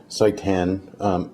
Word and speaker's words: seitan: experiment will be making satan or i don't know maybe you pronounce it satan but i'd rather not have satan in my kitchen so i'm going to call it saitan s-e-i-t-a-n now this is